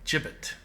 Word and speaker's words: gibbet: see a disc disused jibbet chip it right with the soft G in the Market Square